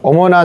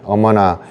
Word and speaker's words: 어머나: 한국어는 어머나로 했고 발음은 이제 일본 사람들이 어 발음이 잘 안 되거든요. 어 발음이 없어서 어머나라고 자연스럽게 어머나 해도 어머나라고 발음하게 되는 건데 한국말로 생막걸리 비 오는